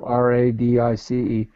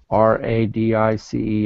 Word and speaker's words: Radice: R-A-D-I-C-E. Okay. R-E-B-E-K-A-H. R-E-B-E-K-A-H. R-A-D-I-C-E. And how does she want it pronounced?